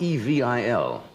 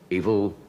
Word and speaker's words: Evel: you met It's not E V I L. Evil. It's really It's Eve Vel. I suppose he pronounces it evil, does he not? I think he says evil.